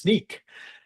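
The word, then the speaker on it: Snyk: Any questions about these sorts of it's pronounced sneak.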